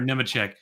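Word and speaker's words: Nemechek: And I'll say Nema for your sake because I know that's how you say it.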